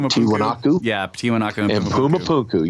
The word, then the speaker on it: Tiwanaku: He was in that area, and that he visited, I got to pronounce this right, Tiwanaku.